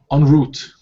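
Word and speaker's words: en route: An do I pronounce correctly? On route. On route. On route. Yeah, on route.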